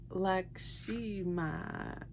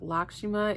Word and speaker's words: Lakshmi: deck that I love okay your card is lakima lakima your your card is lakima lakshimi laimi I think that's how you pronounce it laki lakshi your guys's card is